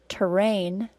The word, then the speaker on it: terrain: These 2 words are pronounced the same, except for the first word has an R-controlled vowel, and the second word doesn't. Listen carefully. Terrain, train. Notice also that the first word is 2 syllables long, and the second word is only 1 syllable long.